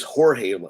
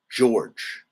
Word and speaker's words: George: Yeah, I thought it was Jorge, her last name, but it's not. Her last name is pronounced George.